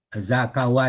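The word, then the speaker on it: زكا: Zakawa tadi akar katanya zakawa. Zaka bacanya dibaca zaka.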